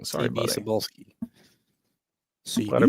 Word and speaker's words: Cebulski: My gosh, CB Cebulski, I think is his name. Probably pronouncing that wrong. Sorry, CB buddy. Cebulski. Glad I pronounced that right.